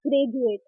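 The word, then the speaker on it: graduate: ज के रूप में फर्ज जैसे कि ग्रेजुएट तो डी के बाद क्या रहा है हमारा यू ए तो यू ए टी ई यू ए टीई आप इसको प्रोनाउंस करें जा के रूप में ग्रेजुएट जैसे कि सोल्जर तो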